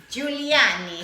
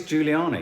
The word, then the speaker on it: Giuliani: But it's spelled G-I-U. Giuliani. Can someone write it phonetically for me? Rudy Giuliani. With Julie. Oh, it is Giuliani.